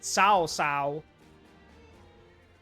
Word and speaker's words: Cao Cao: Alright, let's report to Lord Cao Cao. And yes, that is how you pronounce it, Cao Cao.